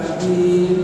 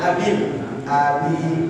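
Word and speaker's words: أبي: Tabbat yada abi tabbat yada abi lahabin wa tabb. Ayo. Tabbat yada abil lahabin. Bukan abil, abi binya banyak enggak?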